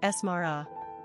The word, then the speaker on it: Samara: Pronunciation, Samara.